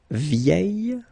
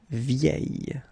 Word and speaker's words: vieille: And last but not least, vieux will give us vieille, and then the feminine form, vieille. Okay, so phonetically the same, but then look, you write them differently.